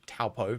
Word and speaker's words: Taupo: And in New Zealand, there's a town called Taupo, spelled T-A-U-P-O, so Taupo, but it's pronounced Taupo, because Kiwis like to pronounce things differently for reasons.